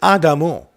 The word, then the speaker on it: adamu: is a sarian name it consists of two syllables ah and Domo it's the real name is adamu and this is Sumerian